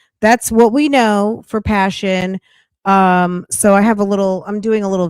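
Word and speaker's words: Pa'Shon: Go to my playlist, and her last name is spelled Mhoon. Passion, Paa apostrophe Shon, Passion, Moon with an H.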